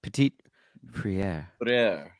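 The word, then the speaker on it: Petit-Frere: I'm going to have to learn how to pronounce his name. Petit Friere. Petit Friere. Oh, but you got to say it like this. Petit Friere.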